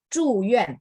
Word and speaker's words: 住院: Satu Z, satu C, betul. Tapi bacanya yang bikin dia beda. Zhuyuan, bersih. Saya selalu bilang bersih ya. Kalau chu, angin ya.